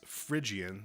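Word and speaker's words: Phrygian: you go e to e um this is frian spelled with a p h r y g i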